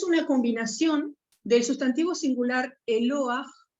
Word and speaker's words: Eloah: Que es una combinación del sustantivo singular Eloah, con terminación H que se pronuncia J, agregando el sufijo plural im, Elohim, agregado, ¿sí?